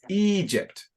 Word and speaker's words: Egypt: with Jacob okay uh Jake and it's it's Egypt Egypt yeah thank you so let me try